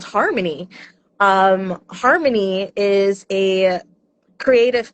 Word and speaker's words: HRMNY: So, Harmony, which is spelled HRMY, uh you can find it at hrmny.music.